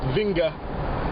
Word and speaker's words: Vinge: It's probably not pronounced Vinge, it's probably pronounced Vinga. I think he's of Scandinavian background.